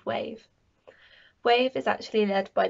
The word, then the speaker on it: wAVE: The W in wAVE is silent.